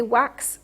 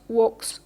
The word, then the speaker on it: wax: wax and quacks okay you say wax quack wax quack and not walks qua right the reason for that